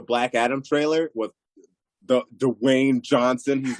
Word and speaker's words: Dwayne: Oh, Dwayne Johnson. What is that? I love how you hard hit that W. Dwayne. Dwayne. It's not one syllable. It's two.